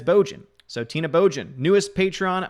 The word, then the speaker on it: Bojan: So it's pronounced like Trojan, but instead it's Bojan.